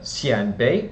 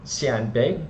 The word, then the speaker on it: Xianbei: as well as the Canan Bay State and tan shuai pardon me for I'm pronunciation but I believe I practiced that in San Bay is should be the correct pronunciation so also a Empire